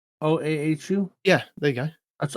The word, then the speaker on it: Oahu: Oahu? OAHU?